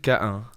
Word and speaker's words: Cahun: of Claude Cahun. Oh, what? And I was thinking I need to get you to say her name. So, Claude Claude Cahun Cahun Cahun Cahun Yeah,